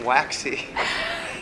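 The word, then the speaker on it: Waxie: this urinal, and I kept seeing WAXY, but they spell it W-A-X-I-E.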